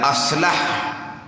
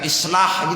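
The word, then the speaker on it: أصلح: Satu lagi tu aslah alif sad lam ha. Nak je gitulah. Bukan alif sad lam alif ha, bukan. Bukan islah gitu, bukan. Aslah isim tafdil.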